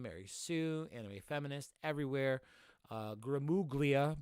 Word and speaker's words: Gramuglia: Gramuglia, but the G is silent. I only say that because it kind of just helps for me. Gramulia.